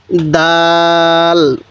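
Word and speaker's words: دال: কিভাবে লেখা হয়েছে এরপরে দাল দালটা এরকম ভাবে লেখা হয়েছে আর দালটা উচ্চারণের সময় শক্ত করে উচ্চারণ করব দাল এরপরে দালটা নরম করে উচ্চারণ করব তাহলে দাল এরপরে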